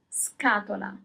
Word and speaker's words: scatola: So as soon as you have S-C-A, the sound is always ska. So the C has a hard sound. It's k, it's not ch, ska. First example, box, scatola.